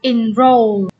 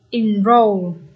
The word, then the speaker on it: enroll: Rồi câu A mình sẽ đọc là enroll. Từ này nhấn âm mấy đây các bạn? Nhấn âm 2. Enroll.